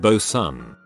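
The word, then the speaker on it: boatswain: Like Leewood is pronounced Lord and Bosan is pronounced Bosan.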